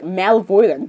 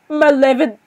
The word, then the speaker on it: malevolent: Look, this, the word, I thought it just pronounces like malvoyant, but it doesn't. Malevolent.